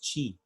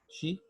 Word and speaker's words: qi: This is what has been described in TCM or traditional Chinese medicine as qi.